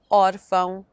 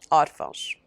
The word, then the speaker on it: órfão: Words ending in ão, but with a written accent stressing the syllable before the last, usually have the plural ãos. Sótão, sótãos, órfão, órfãos.